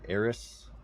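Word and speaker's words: Aeris: to troll him but there are two camps for ays and Final Fantasy 7 you have the same people who say ays because that's how it's spelled and you have people who say aith aith like they have a LP not that there's anything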